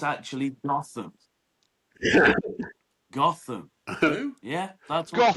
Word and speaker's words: Gotham: Gotham's just down the fucking road from us. It The is. cheeky Pronounced bastard.